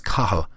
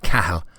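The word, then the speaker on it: Cathal: and for the record my name is kahul not khal but i'm sure that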